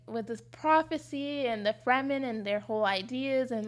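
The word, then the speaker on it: Fremen: because it's like Fman. The Fman. Yeah. Not Freeman. Free men. No, that you're right. It's Fman. Like that's how it's spelled. F R E M- N. Not free men.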